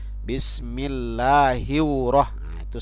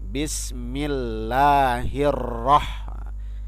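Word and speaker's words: Bismillahirrahmanirrahim: tipis bismillahil besar Bismillahirrohmanirrohim di sini tidak boleh bacotnya hiu roh ya Bapak sering mendengar anak potensi seperti itu Bismillahirrohmanirrohim salah yang benernya Bismillahirohmanirohim Halo Bismillahirohmanirohim jadi disini bacanya Hirohman Nirohim tidak boleh dibaca hiu Rohman nirohim itu bacaannya salah yang benarnya seperti apa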